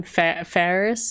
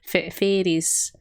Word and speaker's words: Faris: that maiuti spells it mayuri can't say her name faris f-a-r-i-s so she calls her fades like she pronounces it f-e-r-i-s for some reason i don't know it's